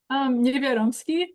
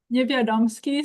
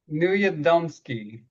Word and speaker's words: Niewiadomski: Niewiadomski. One more time? Niewiadomski, so the W is like a V. Newandowski.